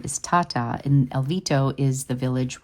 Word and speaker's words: Tata: Tata is the correct way to say my name in Italian. We have Americanized it, so if you ask me how to say my name, I will say Tata, but in truth, it is Tata, and that is the true Italian way.